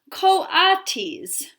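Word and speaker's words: coatis: mrs bis brisbane red reading from the letter pronounced co-autis the kawates looked weird miss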